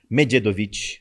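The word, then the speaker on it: Medjedović: O Mededovic, né, Mededovic, a pronúncia correta.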